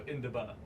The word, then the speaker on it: indaba: spell I can't feel like i-n-d-a-b-a so induba you can say is pronounced yeah and